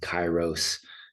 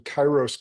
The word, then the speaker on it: Kairos: And so taking a look at what you're doing with Chyros uh coaching and I want to I want to dive right into that too.